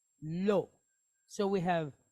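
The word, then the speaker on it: ולא: Aleph is a silent letter, right? So it's just going to make an O sound. So we have an L and an O, lo. So we have velo, right?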